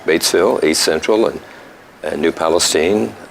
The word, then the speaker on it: New Palestine: Yes, I was calling it Stein, and they said no, it's Steen, and I said then spell your last Spell it name with a differently. Take the I and E out, put 2 E's and an N in there if you want Steen, but they didn't go for it anyway.